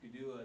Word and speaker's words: Gudua: This is a 1937 photograph of the Gudua Mound, and I'm pronouncing this Gudua the way the Eastern Cherokee would pronounce it instead of Kedua, but the Gudua Mound,